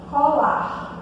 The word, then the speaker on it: colar: Como, por exemplo, quando a gente tem um verbo assim, colar, de colar uma coisa na outra, ou colar de adereço, né? Esse R aqui, ele não é pronunciado, né?